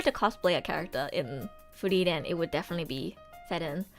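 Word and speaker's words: Frieren: I know, Furiren, Ferun. That's why I say their names in the Japanese pronunciation, so it's like less confusing. Furiren, Ferun, Shitaruku.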